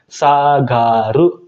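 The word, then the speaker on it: 下がる: Kemudian contoh yang ketiga, apabila kanji bawah ditambah ga dan ru, dia akan dibaca sagaru, sagarimas.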